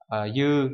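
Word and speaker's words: 夕: Cái số 3 ít khi đứng một mình nó đọc là yu nhưng mà nó thường đi với lại từ phương chẳng hạn để tạo ra dạng yugata nhá.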